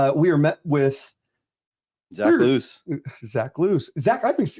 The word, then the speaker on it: Luce: The only one I don't go with is Lucy. So it's Luce or Luce. It's like Django Unchained. You're like, the C is silent.